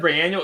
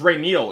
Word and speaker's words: Ray Neal: I said Ray Annual. It's Ray Neal.